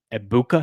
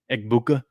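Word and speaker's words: Egbuka: that that shot to uh that shot to Ibuka. Is that how you say his name? Buuka Eggbuka that was beautiful.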